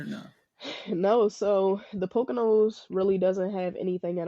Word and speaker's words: Pocono: You say you're in Pocono? Is that how you say it? Pocono.